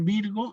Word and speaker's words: Virgo: La primera parte, Virgo, no tiene cambio en la pronunciación. Es decir, Virgo la digo igual.